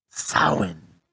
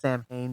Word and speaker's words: Samhain: Today we're going to talk about Samhain. Well, people think it's pronounced Samhain, but it's actually pronounced Samhain.